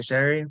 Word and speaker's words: Cherie: say they say Sherry, but it's spelled Cherie, so that's why I do It's it that way.